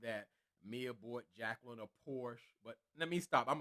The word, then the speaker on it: Porsche: Mia bought Jacqueline a Porsche. But let me stop. I'm a car person, not a Porsche. It's the pronunciation is Portia, like Portia Williams from the Housewives of Atlanta, and they're trying to